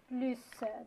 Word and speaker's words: plus: Mais quand la comparaison porte sur un nom ou bien un verbe, sur la quantité, on prononce le S dans le mot plus, d'accord?